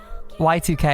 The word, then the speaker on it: YIIK: present and future yek Y2K as it's pronounced but yek is the